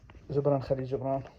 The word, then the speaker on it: Gibran Khalil Gibran: You can't pronounce for shit. Gibran Khalil Gibran.